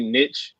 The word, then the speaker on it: niche: I mean, you can pronounce it niche or niche either way.